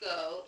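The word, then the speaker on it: geaux: G-E-A-U-X is pronounced go in French, if you don't know.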